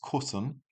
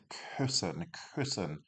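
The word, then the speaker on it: küssen: We've got the verb to kiss and in this instance it's cen without the umlout it be. So a very subtle difference without an outl which isn't a word is cen but we need cen.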